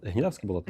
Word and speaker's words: Гнідавське болото: Це гнідавське болото, я правильно наголошую, чи якийсь інший наголос? Е, гнідавське болото.